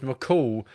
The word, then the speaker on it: McCule: Until next time, you're McCule, pronounced McCall, but I'm happy with how Dave says it too.